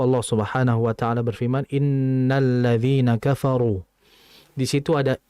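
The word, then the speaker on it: إنّ: Jadi hati-hati dalam membacanya, jangan innalladzi, jangan enna. Yang betul inna.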